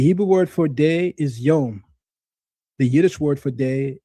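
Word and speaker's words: יום: Yedish and Hebrew share a few words but pronounce them differently. The Hebrew word for day is yom.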